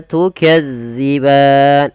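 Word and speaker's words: تُكَذِّبَانِ: dalal hati-hati ya teman-teman jangan sampai kita membacanya panjang Maaf bukan panjang menggantinya dengan huruf Zai contoh Bagaimana tukazziban Nah itu diganti Padahal dia tidak boleh yang betul Bagaimana tukadziban bagaimana cara membacanya yaitu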